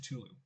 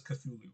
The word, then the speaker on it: Cthulhu: I believe my understanding is that properly pronounced Culu. Or something along those lines. Um, but everybody just says Cthulhu because in English you just pronounce the the is pronounced like that.